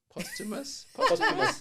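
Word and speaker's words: posthumous: for post how do you say this post postumus you got it you got it apus Tupac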